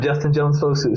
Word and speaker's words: Justin Jones-Fosu: And you said it right the first time, Justin Jones-Fosu. So you are 90% in the green with me, because most people don't say it right.